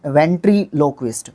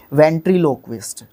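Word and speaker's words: ventriloquist: तरीके की आवाजें न वेंट्री लो क्विस्ट सॉरी पहले मैंने गलत बोला था शायद इसको वेंट्री लोकस्ट ठीक है लोक लोक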